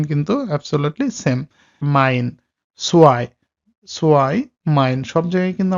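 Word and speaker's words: zwei: এখন এইটার উচ্চারণটা হয় হলো আই এর মতো, বাংলায় হলো আই।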